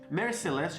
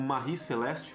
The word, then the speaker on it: Mary Celeste: Mary Celeste, às vezes pronunciado como Marie Celeste, por causa de algumas inconsistências na história.